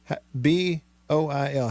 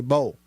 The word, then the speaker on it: boil: B-O-I-L. How do you say that? I know some people that say bowl. The homecoming queen says boil. Boil. There's two syllables.